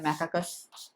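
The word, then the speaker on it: Macaca: और क्या होता है, मंकी, मंकी क्या होता है, मैकाकस, मैकाका, मैकाकस नहीं, मैकाका।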